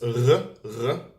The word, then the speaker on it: ר: In Hebrew, it's more down here in the throat. It's r, r.